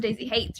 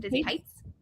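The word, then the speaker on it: Daisy Haites: I pronounce it Daisy Hates. You're supposed to pronounce it Daisy Heights.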